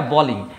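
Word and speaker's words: bowling: পার্টিতে মজা ফুর্তি সেইগুলো করা কিন্তু যখনই বলব বোলিং এইটা কিন্তু ক্রিকেট খেলায় প্রযোজ্য দ্যাট মিন্স বোলিং করা ওকে এটা কিন্তু বলিং নয় কিন্তু আমরা সবাই বলি এটাকে বলিং এবার মনে করে দেখো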